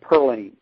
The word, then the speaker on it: Pauline: written by karen reynolds it's pronounced purlin uh give it a little bit more of a mountain dialect sound in there the antagonist